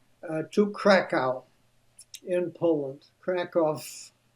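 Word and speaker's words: Kraków: Kov, as it is pronounced over there, a beautiful medieval city over a thousand years old.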